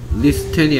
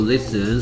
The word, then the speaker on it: listen: 오케이, 리스텐이 아니고 리슨.